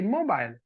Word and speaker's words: mobile: this at the end maybe pronounce it like mobile link mobile now we say mobile right so therefore e is not pronounced e is a silent letter so how many syllables